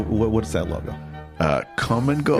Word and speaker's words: Kum & Go: Uh, come and go. Yes. Which I think is a uh like a chain of stores. It's like a gas convenience store, like a quick trip or Right. But come is spelled K U M.